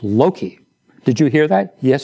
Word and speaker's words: Loki: a mistake one day and called the dog Loki. And Dr. Gabelion said, Frederick, you must learn to pronounce the name of the dog correctly. It's Loki. Did you hear that? Yes, sir. It's Loki.